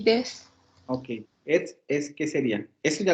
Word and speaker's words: et: O más bien e, porque no se pronuncia et.